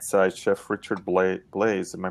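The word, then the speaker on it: Blais: a link on the right side chef richard blaze am i pronouncing that right yep let's for example that's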